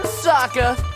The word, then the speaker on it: Sokka: That's right, I'm Sokka. It's pronounced with an aka.